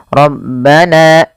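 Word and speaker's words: رَبَّنَا: ketika mad thabi'i itu jangan terlalu panjang, jangan rabbana taqabbal nah itu kepanjangan, ya cukup bagaimana dua harakat yaitu kadar dua harakat saja rabbana taqabbal minna.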